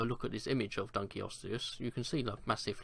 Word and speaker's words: Dunkleosteus: Dunkleosteus, if I'm pronouncing it right, because I think it is Dunkleosteus, I don't think it's Dunkleus or Dunkleosteus, but I think it is Dunkleosteus.